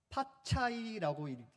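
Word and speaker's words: 发财: 돈을 벌다, 재물을 모으다 라는 중국어는 파차이라고 읽습니다. 여기서 파가 숫자 8과 비슷하기 때문에 8을 좋아한다는 거예요.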